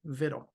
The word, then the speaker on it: victual: t t l e Vittle just the way a robot would pronounce it now when you go to victual AKA Vittle listen to how Merriam-Webster pronounces